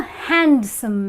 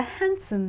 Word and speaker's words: handsome: street and I spotted not a handsome man but a handsome man so well I